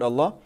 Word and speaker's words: Allah: Allah Subhanahu WA Ta'ala in the word Allah it's heavy so we say only who a long a long is gonna ship that sound should fill your mouth right it's a heavy